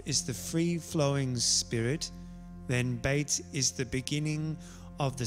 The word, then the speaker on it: bet: spirit of creation bait bait is pronounced as a bee or a v it means house it